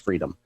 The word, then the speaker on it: Friedheim: It's spelled Friedheim. I believe it's pronounced Freedom.